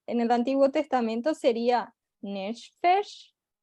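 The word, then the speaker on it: נפש: el Antiguo Testamento sería nefesh. ¿Cómo sería la pronuncia en hebreo, Nefesh, Jonathan? así mismo. Nefesh, así Ok, sería la pronunciación, el alma.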